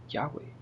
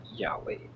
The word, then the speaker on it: Yahweh: So then it says the original pronunciation was likely Yahweh. Yhovah is a later Latinized form based on a misunderstanding of the vowel system.